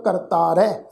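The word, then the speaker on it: ਕਰਤਾਰੈ: करतारै शब्द है कक्का रारा तत्ते नू कन्ना रारा हाहा अखर मुक्ता। हाहा अखर मुक्ता अपने तो पहले अखर रारे दे उपर उलार दुलावां वांगू पाठ उच्चारण होएगा करतारै।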